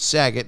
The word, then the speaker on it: Saget: intuition and use the promo code saget yes it's spelled s-a-g-e-t and use that promo code sag it and double your first deposit new players get